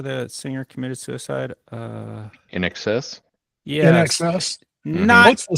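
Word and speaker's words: INXS: was in high school, I pronounced that as inks. A lot of people do. Yeah. You're not the only one. Yeah. Like, why do y'all like inks? It's It's in excess.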